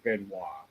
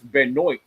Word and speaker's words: Benoit: said it yeah there's actually two ways of pronouncing my last name I mean yeah the French pronunciation is Benois now there is American pronunciation but not many people know how for some reason they they don't know how to pronounce it the way it looks if you pronounce it in English or the American way. It's Benoit.